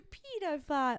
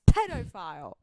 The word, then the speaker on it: pedophile: pedophile pedophile sounds to pedopile no it's pedophile you why you saying pedopile I'm trying to adjust